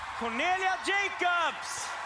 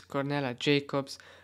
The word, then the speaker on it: Cornelia Jakobs: I didn't pronounce it well. It's Cornelia Jakobs. Of course, it's the only time I thought that I wanted to pronounce it in a Swedish way, but of course, it wasn't right. Of course, English.